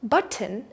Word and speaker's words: button: Button is the textbook way to say it, but a natural way to say it is button. Button. You try. Button. So that T softens and the second syllable almost disappears.